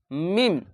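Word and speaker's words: م: আর এটি মিম উচ্চারণ করতে গেলে বাইরের এই দুই ঠোট আছে ওই দুই ঠোটকে মিলিয়ে মিম। এভাবে পড়তে হবে।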